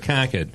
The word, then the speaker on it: Concord: How do you say Concord, though? Because my brother and I were actually talking about this. Concord. Is it Concord. Concord or is it Concord? It's Concord. Concord. It's not Concord.